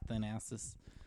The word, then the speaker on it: Thanasis: He's not Thanos. It's Thanasis. That team's so bad.